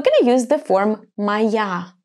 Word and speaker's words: моя: to use the form моя. Pay attention to the pronunciation. Моя. The letter O is going to be pronounced as A because it's unstressed.